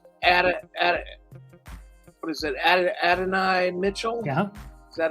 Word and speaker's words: Adonai: go with uh ad what is it ad Adonai Mitchell yeah is that how you pronounce it yep KD Mitchell Adonai Mitchell yep